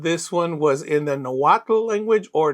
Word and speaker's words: Nahuatl: to pronounce, but this one was in the Nahuatl language, or Nahuatl if you want to pronounce it correctly, and a lot of people didn't know how to pronounce it.